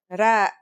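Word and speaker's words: راء: our first letter is ra its closest english counterpart is the letter r but it's a different sound that must be learned ra it's not too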